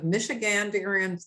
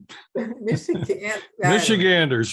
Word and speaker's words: Michiganders: of the president of Michiganderians. I never can say that. Why do you do that? Michiganderians for Fair and Transparent Election. It's Ganders. Michiganders, real easy. Michiganders. I've got a couple extra syllables there.